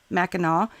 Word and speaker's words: Mackinac: Miss Ellis says you are saying it right Mackinaw and it's Northern Michigan well I gotta tell